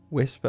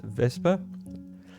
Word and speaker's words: Wespe: And then lastly, uh the Vesper, which I've been saying Wesper up until this point, but it's actually pronounced Vesper.